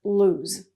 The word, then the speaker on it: lose: is really hard but the sound is the same as choose okay I try not to lose anything when I travel so there's only one oh but it's pronounced lose but I lost my